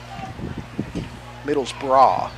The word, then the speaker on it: Middlesbrough: Middlesbrough is where we're at. It's pronounced that way in England.